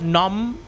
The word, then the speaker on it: gnome: isn't silent is that gnome no it is silent you said the G